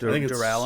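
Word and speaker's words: Duralumin: I think it's Duralamin. Super cool. That sounds a lot better than what I've been saying. That's how the audiobook says it, Duralamin. We'll go by audiobook pronunciation rules.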